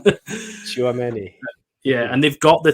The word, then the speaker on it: Tchouaméni: Tchouaméni, is that right? Yeah, that's right. Probably said that wrong. Tchouaméni.